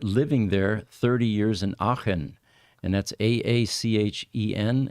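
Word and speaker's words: Aachen: there 30 years in achen and that's a-a-c-h-e-n and most uh English-speaking people can't pronounce that properly it's it's sort of a guttural sound you know yeah that CH would confuse me every time it's the same problem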